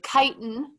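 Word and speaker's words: chitin: part of plant cells we have kiten it's not pronounced chit kiten which is a structural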